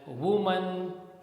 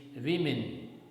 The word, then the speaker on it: women: Sometimes we speak it as woman, sometimes we speak it as woman, but the correct pronunciation is women.